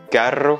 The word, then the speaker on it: carro: Ensuite, carro, le mot pour dire voiture en Amérique latine, l'équivalent de coche, qui va être aussi prononcé plus fort parce que là c'est un double R.